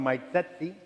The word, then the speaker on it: Sezzi: Um, and for those trying to figure out how to pronounce my last name, it's simple. It's just like this. It's like pizza. set C. So you set the seat.